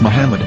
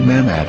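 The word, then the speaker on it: מחמד: after the H according to Ben yehuda's Hebrew English dictionary it is correctly pronounced as Muhammad not mmad so how we're going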